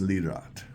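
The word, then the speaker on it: Lirot: It's pronounced Lroat.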